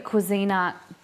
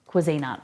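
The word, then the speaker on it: Cuisinart: I just received a Cuisina, and don't hate on my pronunciation. I say Cuisina, okay?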